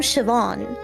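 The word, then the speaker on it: Siobhán: like you know the the name sioban like s i o b h a n yeah like the B and the H make a v noise so like if you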